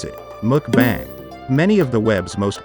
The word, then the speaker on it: mukbang: ramen is popular with mukbangers mukbang or live video broadcasts that happen online pronounce it mukbang many of the web's most popular mukbanging videos